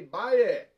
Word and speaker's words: baile: But how do you say It's Baile. It's like Bailamos.